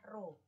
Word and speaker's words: rho: Simbolnya adalah rho. Dibacanya rho, yaitu simbolnya seperti itu.